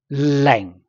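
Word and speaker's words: 零: Okay, and then next number 0. Leng. Leng. Its tone 4 is equal to 2, 1.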